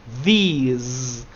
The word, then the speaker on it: these: In the transcription, it says it ends with z sound. And on the left, it ends with s sound, with an S.